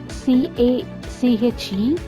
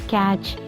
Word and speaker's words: cache: The cache, C-A-C-H-E, which is pronounced like cache, not catch or cache, like this.